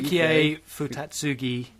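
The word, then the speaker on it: Yukio Futatsugi: No, that's not how it's pronounced. Yeah, you give up on that, don't you? Yukiei Futatsugi.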